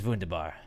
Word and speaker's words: wunderbar: fan Talya it is wunderbar it is vundu bar vundu by ask you don't pronounce the are funda by there you